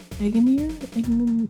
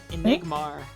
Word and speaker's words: Enigmar: Eggenmir? Shady Enigmar. Enigmar.